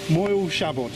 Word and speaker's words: Moel Siabod: mountain for me because it's called moiled shabbat moil shabbat yeah it's good to have someone who can pronounce the word anyway it's one of snow